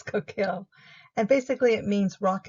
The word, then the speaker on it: coquille: American pronunciation is more like coquille. French is more like coquille, like the L is more silent. I'm going to go with American pronunciation. It's easier. It's coquille.